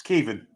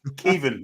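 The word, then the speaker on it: Caoimhín: It's Kevin. Kelleher from Liverpool. There you go. Kevin is how you pronounce his first name.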